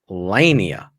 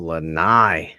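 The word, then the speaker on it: lanai: say it in Kate Coral sitting on my lenia no l no watching Milton go by Bears win 2813 how do you say that word lenai oh lenai yeah I shouldn't the a go before the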